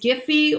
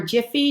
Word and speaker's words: Giphy: The first one is Giphy or Jiffy, depending on how you like to pronounce it.